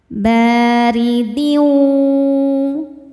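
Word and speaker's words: بَارِدٍ: Huruf ro dibaca secara tarkik karena berharakat di bawah yaitu harakat kasrah. Dibacanya tipis. baridin.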